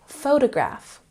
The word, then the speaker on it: photograph: Now let's look at photograph. Photograph has the emphasis on the first syllable.